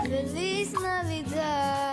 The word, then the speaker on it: Feliz Navidad: Feliz Navidad.